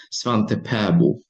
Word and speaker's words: Svante Pääbo: En su Suecia natal, la pronunciación es Svante Pääbo. Pero como es algo complicado para lenguas hispanoparlantes, creo que lo más cercano que podemos hacer sin apartarnos de la realidad es Pavo.